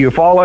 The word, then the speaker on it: Eufaula: It is Beef O'Brady's, but it's the Eufaula Sports Park, correct? It's Lake Eufaula Sports Park, and then we also have Beef O'Brady's.